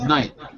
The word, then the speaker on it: knight: yeah but for example knight the gh used to be pronounced like in german and maybe if you